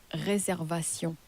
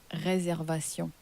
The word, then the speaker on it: réservation: Reservation in French is pronounced as réservation. Réservation. So, it's pronounced in a very similar way to how it is in English, except in French, the ation at the end of reservation, so the ation in French is pronounced as Ation. Ation.